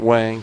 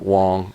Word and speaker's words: Huang: But he pointed out that Jensen Wang, some people pronounce it Wang, some people pronounce it Wong, Huang, the spelling.